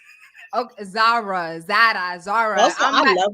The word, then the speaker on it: Zara: marshall TJ Maxx girl how you say it like that zarra cuz it's a z no are you not Zara Zara Zara Zara I